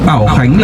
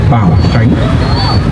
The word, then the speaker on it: Báo Khánh: Dạ xin thưa, đây là cách đọc sai ạ. Bảo Khánh là cách đọc sai.